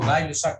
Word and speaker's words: Gay-Lussac: O Guy-Lusac, no sé cómo se pronuncia. Gay-Lussac.